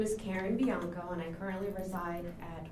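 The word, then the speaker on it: Bianco: current address yes uh my name is Karen biano and I currently reside at one Norman Lane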